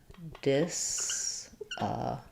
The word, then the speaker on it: disability: So disability, it's the same as how I pronounce ability with stress on the bill syllable. So we would have disability. We tend to flap that T, so it sounds more like a D.